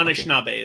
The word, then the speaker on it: Anishinaabe: was owned by the Anishinaabe people of Bay Mills. I probably butchered that, but I'm sorry. Indigenous people, essentially. Anishinaabe is the Yeah, Anishinaabe? Okay, Anishinaabe is what you're looking for.